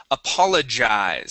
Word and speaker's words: apologize: Uh, let's go to the word apologize. So, this G is going to make a J sound.